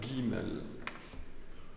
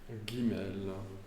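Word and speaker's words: ג: Alf B trè lettre Guimel ça se prononce toujours comme G g gastrique g alors vous faites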